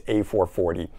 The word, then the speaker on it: A440: Next up, we've got a group called A440, and it's spelled A equals 440. Maybe even that's how it's said, but I've always heard it as A440.